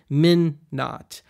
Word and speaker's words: Minn-Knot: the new album to be called phonetically men not i added the silent k just to be a